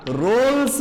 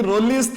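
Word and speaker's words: Rolle: रोल्स mean value theorem रोल्स theorem बहुत जन ताकू प्रोनाउंस करंती रोलिस थ्योरम तो प्रोनाउंसिएशन को जहां भी थाउ किंतु तार मीनिंग ता बुझिबा कथा किंतु एक्चुअली तार प्रोनाउंसिएशन हला रोल्स थ्योरम ओके तो रोल्स थ्योरम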